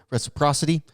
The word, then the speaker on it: reciprocity: Reciprocity.